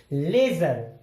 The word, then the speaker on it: ledger: अगला है जज, JUDGE, डी के बाद आ गया जी, डी यहां पे साइलेंट हो गया। जज मीन्स जज या न्यायाधीश। अगला है लेजर।